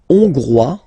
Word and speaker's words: hongrois: La Hongrie, Hongrois, Hongroise. Okay? Hongrois, Grois, Hongroise. Okay, so here final S not pronounced for the masculine form, and then you pronounce it here for the feminine form.